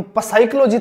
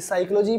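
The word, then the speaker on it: psychology: आप देख सकते हो साइकोलॉजी में पी साइलेंट होता है कभी हम प साइकोलॉजी थोड़ी ना पढ़ते हैं तो इसे साइकोलॉजी पढ़ते हैं एस और एस इधर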